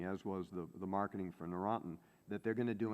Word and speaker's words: Neurontin: about how much money was recovered on the Neurontin, is that how you say it?